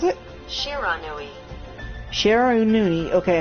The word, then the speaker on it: Shiranui: And of course, this has to do with the Sharuni, if I recall. Is that how you pronounce it correctly?